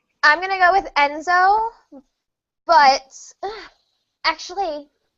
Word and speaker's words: Enzo: Enzo. Some people say Enzio. But there's no letter there for that.